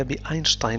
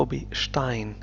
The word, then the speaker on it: Einstein: ينطق في العربية بأينشتاين لأن هذا الاسم أصله اللغة الألمانية، وفي الألمانية تنطق بشتاين، اس والتي تنطق ش.